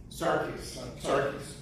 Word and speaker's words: Sarkis: How do I pronounce it? Sarkis.